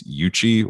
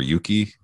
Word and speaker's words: Yuchi: The most prominent were Cherokee, Creek, Chickasaw, Savannah, and if I say this wrong, I apologize, Yuchi or Yuki, Y-U-C-H-I. I believe it's pronounced Yuchi, but I don't know.